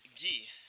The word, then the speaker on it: Guy: You know, let's pronounce your name right, because some people call you Guy, some people call you Gee. Tell me the correct pronunciation, please. Gee. Gee. Like a karate gi.